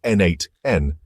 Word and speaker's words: n8n: Designed with flexibility and extensibility in mind, N8N, pronounced N8N, operates on a node-based workflow system where users